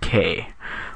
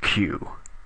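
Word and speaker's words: queue: Q now you might say Sir that is pronounced K like it is Spanish or something not q but believe me me as a reformed ker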